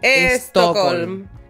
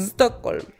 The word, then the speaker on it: Stockholm: Uno como chileno pronuncia Estocolm. Estocolm. Claro. Uno le pone una E. Antes de las... Siempre. Y ese es un problema que también... Stockholm.